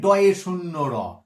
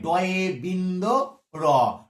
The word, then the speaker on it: ড়: এটাকে দেখো, এটা নিয়ে সমস্যা আছে, ওই বয়ে শূন্য র, তার দেখা দেখি এটাকেও বলে যে ডয়ে শূন্য র, এটাকে বলা হচ্ছে ডয় না, এটাও কিন্তু কোথাও শূন্য দিয়া নেই, এটাও কিন্তু বিন্দু দিয়ে আছে।